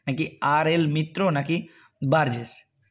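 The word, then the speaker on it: Burgess: আর এল মিত্র নাকি বার্জেস তো এখানে বার্গেস বা বার্জেস এটা বার্গেস উচ্চারণ করলেই ভালো হয় তাহলে এখানে সঠিক উত্তর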